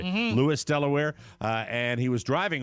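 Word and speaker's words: Lewes: His name is Kevin Brownlee from Lewis, Delaware. That's how you pronounce that down near Ocean Yes. City, right? Lewis, Delaware.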